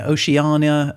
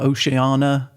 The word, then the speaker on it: Oceania: seems like there are many different ways of saying it Oceania uh Oceana oania ohania so I think depending on where you come from in the world you can pronounce it however you like but Paul other than